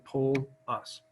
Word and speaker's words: Polus: And the first question that always comes to people's mind is how to pronounce my name. Best way, Mr. Polus.